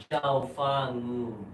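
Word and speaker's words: Chao Fa Ngum: It's a bit difficult to pronounce his name. Can you try to say it after me? Zhao Fangun.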